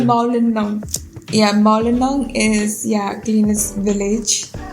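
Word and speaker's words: Mawlynnong: It's called Maulayang. No, the way you're pronouncing it, you're not like Maulinang. Okay. Like the way he's pronouncing it, it's like Making you forget. Yeah. It's called Maulinang.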